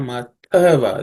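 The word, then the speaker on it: अथवा: Second line, Vrata Paripalana Matava. This th is the second letter in the third class of sounds, so third varga consonants. So it has to be aspirated.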